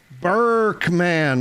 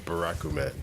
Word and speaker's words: Barakuman: Burkman, what's up? Hopefully I pronounced that right. Cameron, when you need him. I know. We got to get Cameron on the pronunciations. He's fired again. It's Barakuman. Barakuman.